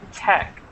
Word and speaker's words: tech: a problem with pronunciation this word should be Tech uhhuh okay Tech not teach but Tech mhm exactly because it's a abbrev for technology okay let's go to